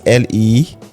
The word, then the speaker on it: Lekki: Lucky trade zone. Lucky free trade zone. Okay. If you got it. That's true. It sounds like Lucky, but it's like Lekki. It's pronounced Lekki.